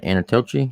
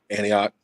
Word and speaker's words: Antioch: name of the city what was it Anna anochi is that how you say it Antioch an an I used to live in Antioch